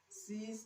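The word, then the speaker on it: seize: car we have a c b c c c and d another spelling of C okay this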